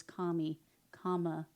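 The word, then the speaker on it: Kamala: I mispronounced your name it's not Camy it's Kami Comm so and our highest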